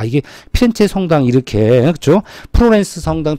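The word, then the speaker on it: Firenze: 그 다음에 대표적인게 우리 프로렌스가 발상지 프로렌스를 영어식 발음이고 본토 발음은 뭐죠 피렌체잖아 피렌체 그렇죠 프로렌스 같은 거예요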